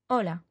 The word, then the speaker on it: hola: Pak began by saying Ola Lisa Ola Martin hello Lisa hello Martin the first thing thing you'll notice is that although you see an H in Ola you don't pronounce it listen hola you might well have